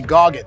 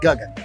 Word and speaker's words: Guggen: a CD, go see Goggin. Because I went by my name is Guggen, right? Which means sky, but people couldn't even pronounce Guggen, so they called me Goggin growing up.